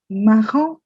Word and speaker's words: marron: orange Then you have maroon, and you say marron. marron marron There's a pink that's called rose.